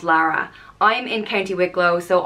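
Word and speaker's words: Laragh: name is Lara and it's spelled l-a-r-a-g-h and it's pronounced Lara and it's derived from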